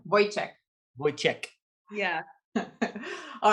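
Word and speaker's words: Vojtěch: It's not a ch, it's a ch. It's a yeah, it's a Vojtec.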